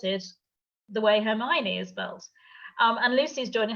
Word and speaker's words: Hermione: they're all seven books I was pronouncing it hermie Oni until the movies came out I never heard the name Hermione before and I was like oh my knee Hermione and I then have